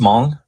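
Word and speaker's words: Hmong: See our resident historian uh knows all um among so where it's just mong you don't that the h is silent yes okay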